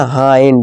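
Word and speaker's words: hind: इस तरह हाइंड। हिंड नहीं हाइंड।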